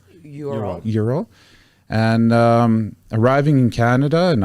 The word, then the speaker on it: Ural: Did I pronounce that right? Ural? Ural.